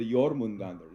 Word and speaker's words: Jormungandr: which is the Jormungandr. Is that how you pronounce it? Absolutely. Yeah, that's how you do it. The You really Jormungandr. have to roll the R's.